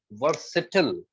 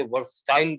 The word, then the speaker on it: versatile: वर्सिटल। 99% पढ़े लिखे लोग भी इसे वर्सटाइल पढ़ते हैं, गलत। The correct pronunciation of this word is वर्सिटल, वर्सिटल, नॉट वर्सटाइल, that is totally wrong, ठीक है।